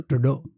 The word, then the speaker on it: Trudeau: तो बाकी हाँ, Canada, Justin ट्रूडो, ट्रूडो। ट्रूडो आई to specifically Google की उसका नाम प्रोनाउंस कैसे करते हैं।